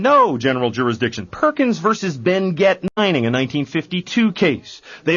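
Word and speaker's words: Benguet: You see, Ben Gett Mining was a Philippine corporation. They never spoke French in the Philippines. They spoke Spanish, and in Spanish you pronounce the T. It is Ben Gett Mining.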